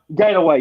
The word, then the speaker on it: Gainaway: is it pronounced Ganaway? Gainaway, yes, Gainaway, and his son's really good too, Gainaway Jr.